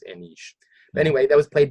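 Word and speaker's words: Anij: I used to call it Angie, like Angjy, but it was Anish.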